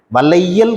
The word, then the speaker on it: வளையல்: வள வல வளையல் ல இந்த லையை எப்படி உச்சரிக்கிறோம் ல என்பதாக உச்சரிக்கிறோம் எழுதும்போது லைன்னு எழுதுறோம் ஆனா உச்சரிக்கும் போது வளையல் வளையல்காரன் வளையல் கடை வளையல